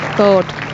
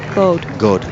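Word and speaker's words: Gaud: God, that's how you say it. God bow well, hasn't she?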